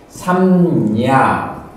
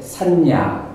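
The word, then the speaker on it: saññā: 삼냐. 그 다음에 이걸 발음하기 쉽게 만든 게 산냐. 발음하기는 쉽죠. 요건 발음하는 것이 조금 단 하나로는 삼냐. 삼냐. 이렇게 조금 굉장히 격조 있게 해야 돼요.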